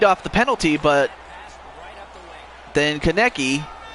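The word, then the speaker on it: Konecny: is uh who committed a tripping penalty again kaneki okay that's how you pronounce it okay although tanmay can only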